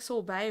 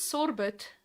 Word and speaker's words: sorbet: i can have like sorbet or whatever i don't know but i'm not fancy enough to eat something with a silent tea at the end it's all bae i'll eat sorbet but i won't have